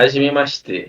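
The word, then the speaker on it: はじめまして: Se fala Aham, Hajime Mashite. É que é difícil, a pronúncia é difícil, que é japonês, né, mano?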